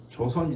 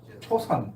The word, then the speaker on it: 조선: 대한민국이 이전의 나라의 이름이 조선 있잖아요 조선 그런데이 조선이라는 발음을 어 미국 사람들이 못해요 잘 할 기가 어려워요 그래서 뭐라고 발음을 하냐 초선 이렇게 발음 해요 초선 근데 아 미국